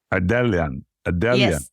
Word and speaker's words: Ardelean: enough and ellan I would say ellian adelan I was gonna say